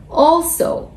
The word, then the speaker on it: also: Ал екіншісі also. Also, бұл жерде ударение біріншісіне келіп отыр.